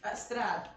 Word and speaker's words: Strahd: Strahd, if you're gonna pronounce it correctly.